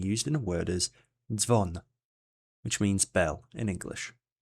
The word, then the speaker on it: dzwon: This one is pronounced as dz, and it sounds similar to the 2 D's and S in the word ads. An example of this digraph being used in a word is dzwon, which means bell in English.